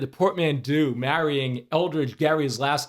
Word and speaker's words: Gerry: governor whose name was Eldridge Gary so hard G it actually should be Gary mandering but H whatever somebody